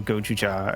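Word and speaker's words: Gozyuger: current Sentai series, #1 Gojuger, or Gojuja as it's pronounced in Japanese, is written by his daughter, which I thought was neat.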